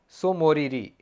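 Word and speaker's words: Tso Moriri: Wetland है उसके बाद है सोमोरी टी साइलेंट है सोमोररीरी वेटलैंड तो यह दोनों है लद्दाख में हिमाचल प्रदेश में तीन वेटलैंड है।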